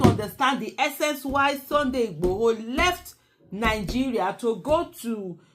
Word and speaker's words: Igboho: I think that's the correct Igboho. That's the correct pronunciation.